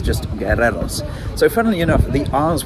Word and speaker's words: guerreros: comments helpfully informed me, the U in that word, you don't really pronounce because a U that